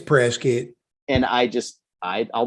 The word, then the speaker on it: Prescott: the locals calls it pressgate it's press kit and i just i'd i'll never understand that it's spelled prescott but we call press kit yeah exactly where do